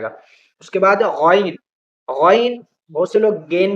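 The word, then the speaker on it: غين: بھی پڑھتے ہیں، لیکن یہ گین بھی گین نہیں ہے، گا نام کا کوئی حرف ہی نہیں ہوتا عربی زبان کے اندر جس کا گا، جس کا تلفظ ہو، عربی کے اندر ہوتا ہے غائن، غائن غائن غائن غائن، بار بار اسے بولیں گے تو انشاءاللہ آ جائے گا، تین چار حرف اور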